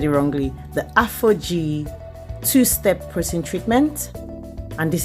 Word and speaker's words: Aphogee: the protein treatment i'll be using is the afro g i have said it wrongly the aphogee two-step protein treatment and this is what it